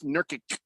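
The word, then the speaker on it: Nurkić: My problem with Yusuf Nurkic, there's no H in his name.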